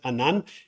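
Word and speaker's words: ענן: Hebrew word for cloud, anan, which is anan. Now, the Hebrew word for cloud is spelt with an ayin, a nun and a nun, and it's pronounced as anan.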